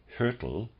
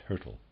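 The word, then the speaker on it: Hyrtl: under the microscope footnote trying to pronounce the name hurtle readers aside spelled h y r t l and i'm pronouncing that hurtle end of readers aside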